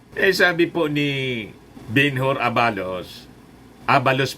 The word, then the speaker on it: Abalos: Sabi po ni Benhur Abalos, Abalos pala ang pag-pronounce yan, Benhur Abalos.